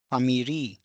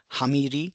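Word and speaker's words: ファミリー: So earlier in the traditional Japanese it used to be who but when we write it in katakana then we nowadays we pronounce it as fu only so we do not say huransu or hutto boru or hamiri no not like that it's famiri only so it has been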